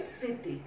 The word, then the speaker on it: স্মৃতি: তাহলে আমাদের এক নাম্বার নিয়ম একটাই যে শব্দের আদিতে মফলা থাকলে ময়ের উচ্চারণ হয় না কিন্তু সংযুক্ত বর্ণটির উচ্চারণ আনুনাসিক হয়, যেমন স্মরণ স্মৃতি, ঠিক আছে এক নাম্বার নিয়ম।